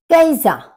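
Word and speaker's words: Käse: रोटी तो brought bread कैजा कैजा क्योंकि ए के ऊपर उम लाउट है तो इसका प्रोनंसिएशन होता है आई तो कैजा मतलब चीज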